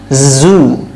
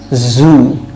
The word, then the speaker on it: zoo: এবং Z দিয়ে কয়েকটা ওয়ার্ড আছে, Z দিয়ে zoo, zoo মানে চিড়িয়াখানা, এই উচ্চারণগুলো বাংলায় নেই কিন্তু আমরা জু বলি, কিন্তু এটা zoo, zoo, zoo, zoo, okay?